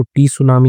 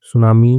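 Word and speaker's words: tsunami: तो इसमें टी जो होता है वो साइलेंट होता है। इसको टी सुनामी नहीं बोलते। सुनामी में सुनामी रहता है।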